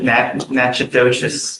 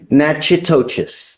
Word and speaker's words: Natchitoches: You are wanted out of, Louisiana, Natchitoches Parish. I butchered the pronunciation, but. Natchitoches.